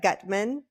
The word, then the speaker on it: Gutman: Gutman?